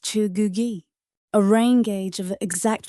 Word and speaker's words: Cheugugi: He builds the Cheugugi, pronounced Cheugugi, a rain gauge of exact volume.